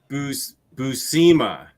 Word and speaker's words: Buscema: Buscema. There we go. Sal Buscema. Yeah, well, it doesn't matter if I mispronounce it.